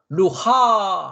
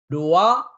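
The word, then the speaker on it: רוח: 라메 그러니까 루가 되겠죠 그래서 루하 하지 않고 어떻게 한다고요 루아흐 아 나 루아가 룰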